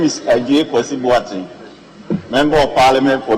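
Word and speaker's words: Adjei: My name is Ajay Kwesi, Member of Parliament for New Jabino. But the Ajay is spelled wrongly. My Ajay is A-D-J-E-I.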